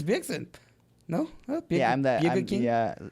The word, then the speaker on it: Bjergsen: Wait, what is the correct pronunciation? Bjergerson. Erickson. Bjergsen. I was that close. No, Jay. Bjergsen. It's Bjergsen.